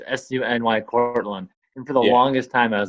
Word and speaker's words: SUNY: profile it always says su NY Cortland for the longest time I was like funny heck it's like eventually but it's it's pronounced SUNY but a lot of people say sunny and it's funny because